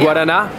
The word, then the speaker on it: Guaraná: And Guaraná?